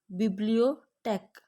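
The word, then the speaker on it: Bibliothek: टी एच, टे, टे की आवाज़ निकलती है। For example बिब्लियोटेक, बिब्लियोटेक। लाइब्रेरी, लाइब्रेरी को हम कहते हैं बिब्लियोटेक।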